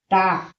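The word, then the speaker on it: talk: टाक टी ए एल के टाक। इसे टाक नहीं टाक कहते हैं। बहुत से विद्यार्थी यानी इसे ताल्लक पढ़ते हैं। तो हमारा गलत उच्चारण होता है। अनेक मेंशन गलत होता है। इसे टॉक पढ़ा जाता है।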